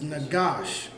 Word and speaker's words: Nagash: It's Nagash. Nagash. So it's Nagasha. So it's 3 characters. Na, Ga, and Sha. The Na is pronounced independently. The Ga and the Sha are connected. It makes Gosh.